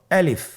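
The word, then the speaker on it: ألف: আলিফে কিন্তু কোন টান নেই। আপনারা বুঝতে পারতেছেন আমি যখন আলিফ বলছি এর মধ্যে কোন টান হবে না। আলিফ। আবার বলুন আলিফ।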